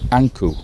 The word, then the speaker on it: ankh: And we think it is Ipi or Appa, Anku. That is how Ankh is pronounced in ancient Egyptian.